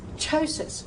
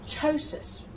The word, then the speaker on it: ptosis: If it begins with PT, use the T sound, such as ptosis, as we've already said, ptosis.